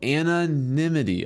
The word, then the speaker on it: anonymity: Oh, anonymity.